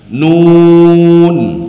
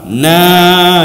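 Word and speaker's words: ن: Nun ya. Karena sebagian ada yang membaca keliru salah Pak na bacanya Pak. Jadi na itu salah ya. Jadi yang betul nun ya.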